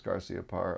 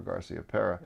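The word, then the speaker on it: Garciaparra: garcia parr was here i asked him if it was garcia par or garcia pera yeah and he because i'd heard both in a way sure and he said no it's garcia par and things yeah exactly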